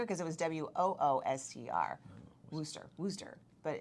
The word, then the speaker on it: Worcester: do you say it in massachusetts worcester but we say wooster down here and worcester there because you just said it two different ways here because it was w-o-o-s-t-r rooster wooster but it's almost pronounced